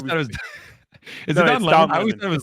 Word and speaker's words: Lemon: Yeah, it's Don Lemon. Yeah, yeah, it's pronounced Lemon, dude.